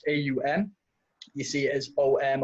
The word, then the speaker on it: Aum: when we do on which is pronounced AUM you see as om